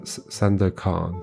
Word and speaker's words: Sandakan: San No, San San da San da kan. Sandakan? With emphasis on the last syllable, kan. San Sandakan.